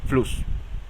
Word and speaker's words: Fluss: Una doble S se pronuncia como una sola S, pero causa que la vocal anterior se acorte. Por ejemplo, Fluss, Fluss. Nótese cómo no estoy diciendo ni Fluss ni Fluss. Estoy diciendo Fluss. Rápidamente pronuncio la U.